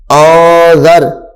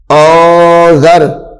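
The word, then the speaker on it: أنذر: پڑھنا اس کو، تو اس کو ان ذر نہیں پڑھیں گے بلکہ کیا پڑھیں گے آذر، آذر، نون کی آواز کو چھپا دیں گے، آذر، نون الف زبر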